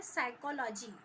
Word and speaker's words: साइकोलॉजी: tsunami, जैसे कि English का शब्द हम बोलते हैं साइकोलॉजी, उसमें पी जो है वो साइलेंट रहता है, उसी तरह से सुनामी